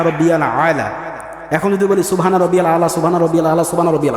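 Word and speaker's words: سبحان ربي الأعلى: আলা এখন যদি বলি সুবহানা রাব্বিয়াল আলা সুবহানা রাব্বিয়াল আলা সুবহানা রাব্বিয়াল আলা হলো ওখানে আইন আছে আমাকে উচ্চারণ করতে হবে ওইভাবে নামাজ পড়লে নামাজ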